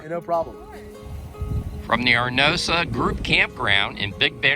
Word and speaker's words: Arenosa: And what's the correct pronunciation of this campground? So this place is called Arenosa. Arenosa.